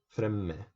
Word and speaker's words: fremme: For to do, so I do basically, you pronounce two M's, fremme.